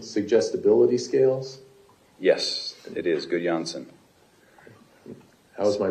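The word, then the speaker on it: Gudjonsson: okay uh 20 please so um GSS is that uh could Johnson suggestibility scales yes it is good Johnson how's my pronunciation perfect is it very nice thank you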